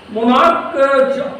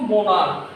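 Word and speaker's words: monarch: मोनार्क, पहले तो ये देखिए कि जब CH का उच्चारण च की तरह होगा, CH का उच्चारण च की तरह होगा और CH का उच्चारण क की तरह होगा। यहाँ हम क्या पढ़ रहे हैं, इसको मोनार्क, स्टोमक, और यहाँ क्या पढ़ रहे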